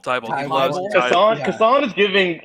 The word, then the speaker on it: Kason: This is Jason with a K. Kasan. Like, that's just Kasan.